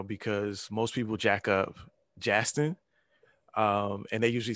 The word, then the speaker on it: Jastin: Please welcome Jastin Artis.